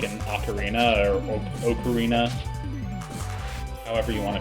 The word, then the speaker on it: ocarina: we always like corrected them, like, no, it's pronounced ocarina.